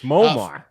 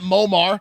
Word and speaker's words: Muammar: it i don't know i went to google pronunciations it's muammar gaddafi it's moamar no it's not momar it's uh anyways it's